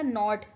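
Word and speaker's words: knot: Next word आता है हमारा नॉट. नॉट यहाँ पे क्या है? केस यहाँ पे साइलेंट है.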